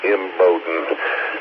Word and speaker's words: Embden: I was just going to help you out on that it's Embden. The EMMBODIN, that's pronounced Embden.